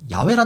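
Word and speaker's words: 야훼: 적이 없습니다 그래서 저는이 히브리 언어 학자들이 줄기차게 더 올바른 발음이라고 주장하는 야외라 표현을 쓰는 것입니다 저는 솔직히이 부분에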